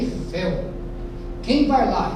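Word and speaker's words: Eiffel: Outra sutil, uma outra que coloquei de propósito, não existe torre Eifel, pelo amor de Deus. Aquela torre que existiu lá em Paris há muitos anos é a torre Efel.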